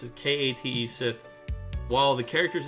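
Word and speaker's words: Cait Sith: K A T E Kate Sith. Unfortunately, the official pronunciation of the Final Fantasy character is like Kate Sith.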